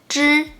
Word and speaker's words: 知: And to pronounce 知 and 吃, you have to let the tip of your tongue stick to the position to block the air in your mouth first, and then let it out.